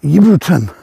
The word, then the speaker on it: Ebrington: we may call it ebrington but the locals don't it's spelled ebrington but the locals call it yon for some reason the